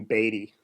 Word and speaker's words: Beaty: Oh, tell Dave you say my name Beaty. I didn't want to correct him. Everyone says Beaty because that's how you spell it, you know, like BEA, yep. Like beat.